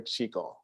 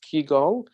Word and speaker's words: Qigong: the word and uh from the Chinese perspective you're going to hear Qigong right it's the exact same thing but out of respect for my teachers who originate from Korea where it's pronounced kigong I'm going to keep